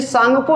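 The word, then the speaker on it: Tsangpo: यानी कि चीन में सांगपो नदी के रूप से पुकारा जाता है। और ये शुरू होता है इंग्लिश में टी से, क्योंकि टी साइलेंट होता है यहाँ पर, इसलिए आपको थोड़ा समझना होगा। सांगपो, तो सांगपो क्या है?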